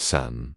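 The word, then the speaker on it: 伞: The character for umbrella is Sun-san, pronounced San, and the oiled paper umbrella is called Yoji-san, pronounced Yuzi-san.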